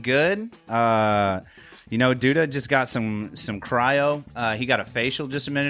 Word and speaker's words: Cryo: Is it Cryo? Cryo. Did I say Cairo?